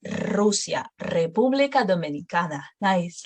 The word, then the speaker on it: Rusia: Por ejemplo, Roma, Rusia, República Dominicana. So you will roll it a little longer at the beginning of the words. No, Roma, Rusia, República Dominicana.